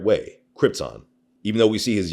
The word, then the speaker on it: Krypton: Speaking of lines, was amazed how Marlon Brando repeatedly pronounced his home planet as Krypton.